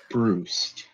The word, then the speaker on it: Brust: It's Bruced. Rhymes with Roost.